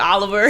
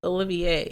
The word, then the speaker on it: Olivier: It's Olivier. Yes, it's Olivier. That's not Oliver.